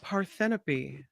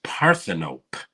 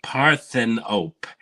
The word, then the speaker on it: Parthenope: these movies yeah this next one is called paropy actually it's oh God actually it's pronounced Paran op really parthan op now I believe Michael Snider might have reviewed